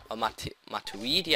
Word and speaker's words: Matuidi: two cdms guys uh maturity matuidi I believe it's pronounced who cost me a